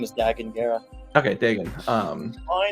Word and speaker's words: Dagan Gera: He says his name is Dagan Gera.